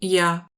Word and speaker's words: Я: Et ça, c'est pas un R à l'envers, c'est Я.